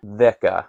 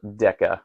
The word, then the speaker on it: δέκα: And then déka, spelled déka, but déka is how a modern Greek person would pronounce it, is 10.